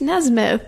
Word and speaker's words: Nesmith: It's Nesmith. Nesmith. like the monkey, Nesmith.